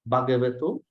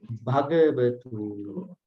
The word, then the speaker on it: bhagavato: Namo tassa bhagavato arahato samma sambuddhassa. That's it. You have to make an emphasis at each H. That's it. It's not simple Bhagavato.